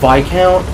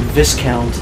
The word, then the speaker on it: Viscount: the word by count is supposed to be pronounced by count as I've been saying it but sometimes they'll slip up in pronounce it Viscount which is weird cuz I feel like we